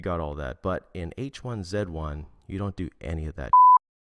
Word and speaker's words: H1Z1: and it's called h1z1 yes I'm Canadian so I have to say it like that h1z1 now playing h1z1 it's